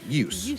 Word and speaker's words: juice: we have the word juice or use right yeah and we spell it j-u-i-c-e as if it was you know the English word that makes no sense if if a Swedish child is looking at that it's like you you you eat yeah you you eat yeah like that how would they know it's supposed to be used and in fact there